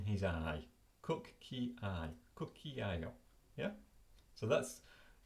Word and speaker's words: cucchiaio: spelling, in different colour, how to pronounce it, cucchiaio, do you see this? Cucchiaio. And then I've split out, using my own system here, the syllables are separated with dots, and the stressed word has got a little hat over the top of it.